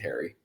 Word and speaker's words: Harre: I've actually been in a spat with my family because I think it should be pronounced Hari, but no, we do pronounce it Harry.